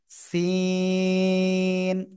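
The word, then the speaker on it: سين: করতে হবে আমার দিকে জিহ্বার আগা সামনের নিচে দুই দাঁতের পেট ও আগের সাথে লাগাবেন লাগিয়ে চিকুন আওয়াজে আপনার উচ্চারণ করতে হবে সিন সিন জোরে জোরে সিন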